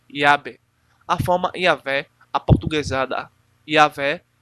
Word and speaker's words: Yahvé: Parece provável que a pronúncia original tenha sido Yahvé, tanto por causa da